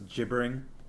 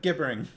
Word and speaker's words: gibbering: paul snapped at him farmer says jibbering i like the hard g there i like gibbering i told you to